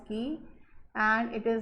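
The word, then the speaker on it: χ: it is represented by key actually it is x but it is pronounced as key and it is not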